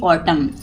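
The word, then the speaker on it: autumn: इट is celebrated every ऑटम यानी कि प होता है यहां पे एन साइलेंट रहता है जैसे एम के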